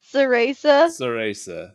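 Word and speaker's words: Cereza: the magical i know the magical she is cerisa in bayonetta is that how you pronounce it it's been too long since i played it ceresa there we go you played it recently i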